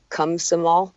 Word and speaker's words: Komsomol: So she would have been in deep trouble with the Komsomol, that's how you say it, her trade union and her uncle.